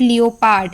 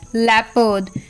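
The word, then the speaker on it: leopard: ए आर डी लेपर्ड इट्स नॉट लियो पार्ड इट्स लेपर्ड then P ई ओ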